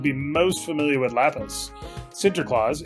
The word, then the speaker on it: Sinterklaas: It's not Santa, it's Sinter. God, you gotta pronounce it right. My bad. Yeah. Yeah. You know what? I shouldn't dead name him. I gotta respect that it is Sinterklaas.